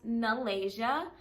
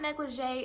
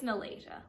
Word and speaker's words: Neelege: It is not negligee. It is not Neelege. I'm not quite sure where people are getting these pronunciations, but it's not it, okay? It's Neelege, like the country Malaysia with an N.